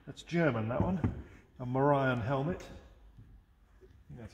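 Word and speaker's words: morion: 16th century tin that's german that one a morian helmet that's how it's pronounced and lots and lots of oriental ceramics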